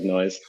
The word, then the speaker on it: Nois: And we just dropped the E to make it a fantasy name, but you can just pronounce it like noise.